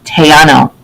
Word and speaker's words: Tejano: It's pronounced Tejano.